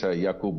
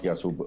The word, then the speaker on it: Yakoob: It's Yakoob, not Yasub.